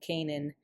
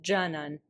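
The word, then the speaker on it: Canan: We're talking here to a girl named Kanan. But turns out her name is not Kanan because she's Turkish. And so it is pronounced jan something like jan like the jun or jan that means dear that pastunes and persians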